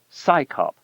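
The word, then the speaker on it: CSICOP: Its initials CS IO P are pronounced as the acronym SCYOP, as if it's an organization of scientists performing a police function.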